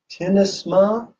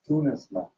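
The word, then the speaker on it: Tyynismaa: Vittori Tinisma. Tinisma? That's T-Y-Y, it's Tunisma. T-Y-Y, yeah, it's how it's spelled.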